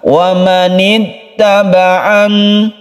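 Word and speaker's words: وَمَنِ اتَّبَعَنِ: Nah, kita membacanya tidak terlalu ditekan. Wa manittaba'an itu ditekan. Yang betul adalah dilemaskan saja tengah-tengah. Wa manittaba'an, wa manittaba'an. Begitu cara membacanya.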